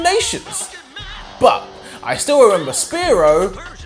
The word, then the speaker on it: Spearow: But I still remember Spearow rhymes with slow bro.